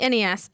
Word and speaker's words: NES: just said apparently wasn't the proper way to say it. Yeah. Really? Yes. It's NES. So what's Ness.